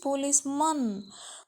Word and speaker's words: policeman: You don't pronounce policeman, caveman. Okay, that is not a man. That is policeman.